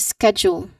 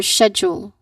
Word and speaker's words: schedule: Make sure to say both syllables. You say it as signs. Signs. Next. Schedule or schedule.